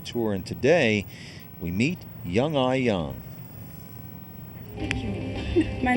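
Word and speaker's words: Young-A Yang: times people call me this year, it's like Young Yang, Young A, which is my sister's name. And that's probably 2 most common one. And my name should be pronounced as Young Ah Young.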